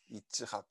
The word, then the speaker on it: 이츠학: 히브리어로 발음하면 이츠학이에요. 이츠학.